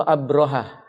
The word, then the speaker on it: Abrahah: Siapa nama raja yang memimpinnya, Abrahah atau Abrohah? Abrahah pakai ha atau pakai ha? Gimana Ibu? Abrohah pakai ha besar. Abrohah. Orang Indonesia bacanya Abrahah.